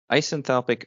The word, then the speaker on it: isenthalpic: And an isenthalpic or isoenthalpic, apparently both pronunciations are correct.